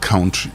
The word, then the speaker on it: country: Country, not country. into union debating. Well, the pronunciation is country if you want to say it right.